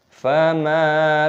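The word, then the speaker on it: فَمَا: Fama lahum 'anit tadhkirati mu'ridin. Fama lahum 'anit tadhkirati mu'ridin. Mimnya dipanjangkan, ada tanda alifnya mad tabi'i, dan di sini ada mim sukun yang bertemu dengan huruf ain, idhar syafawi, dibaca jelas.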